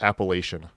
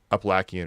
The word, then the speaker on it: Appalachian: I've heard it's actually not pronounced Appalachian. That's how I always thought it was pronounced, but apparently it's like Appalachian or something like that.